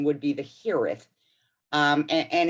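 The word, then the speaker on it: hiraeth: here is which aaron most of us just pronounce it hireth but the correct pronunciation would be the hereth um and it's the welsh word for homesickness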